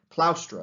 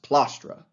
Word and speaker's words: plaustra: Plaustra is how you pronounce it in proper upper-class Latin, but he says plastra, more working-class Latin.